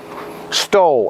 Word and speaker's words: STOL: Stol, S-T-O-L. People think it's S-T-O-H-L sometimes because it's like a German word with a silent H, but it isn't. This is stol, is a short takeoff landing.